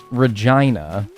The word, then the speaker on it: Regina: The city that rhymes with fun, Regina.